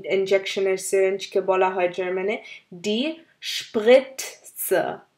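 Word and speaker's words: die Spritze: সিরিঞ্জকে বলা হয় জার্মানে ডি স্প্রিটস, ডি স্প্রিটস। আসলে টি আর জেড একসাথে থাকে, টি আর জেড দুয়োটাই উচ্চারণ করতে হবে। এখানে যেমন ডি স্প্রিটস, আপনারা আবার শুনুন, আমি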